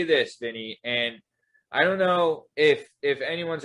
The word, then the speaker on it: A&N: stuff like that, I will say this, Vinny, and I don't know if anyone's ever brought this up to you. This was a genius move that A&M Cold Cuts did.